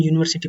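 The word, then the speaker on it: university: तो एन लगना चाहिए लेकिन यूनिवर्सिटी प्रोनाउंसिएशन इसका यू है तो क्या लग जाएगा option number A next next है एलीिफेंट एिफेंट एलीिफेंट तो क्या लग जाएगा?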